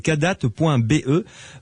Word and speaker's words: Kadath: Et pour se la procurer, eh bien, il suffit d'aller sur le site internet cadat.be pour la commander en ligne, tout simplement. Cadat, ça s'écrit K-A-D-A-T-H.